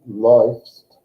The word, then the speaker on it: läufst: Although laufen gets pronounced differently, läufst, than the umlaut A in these words would.